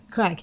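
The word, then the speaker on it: craic: years ago what's that crack it's spelled c-r-a-i-c but it's basically another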